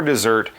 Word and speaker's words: dessert: Betty can have pudding for dessert after she finishes her food.